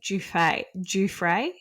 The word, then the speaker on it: Giuffre: You have to say Giuffre. Oh, do you? Giuffre, even though it's spelled like giraffe.